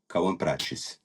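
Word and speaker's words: Kauã Prates: We have some other news for you guys, as Dortmund have finally announced Kaua Prates. How was my pronunciation? Pedro? It's getting closer. Kawan Prates. Kaua Prates. Yes, Okay, close enough.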